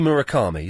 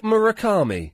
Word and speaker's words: Murakami: if anyone has read Sputnik Sweetheart by Heruki Murakami a Japanese writer he's brilliant it's a fantastic